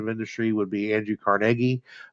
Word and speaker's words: Carnegie: industry would be Andrew Carnegie a lot of times people in society pronouncing carnegi but it was carnegi uh and the Steel